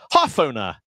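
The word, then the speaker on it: hårføner: Because in Norwegian, these are different letters of the alphabet. They're not just an A and an O with something extra on them.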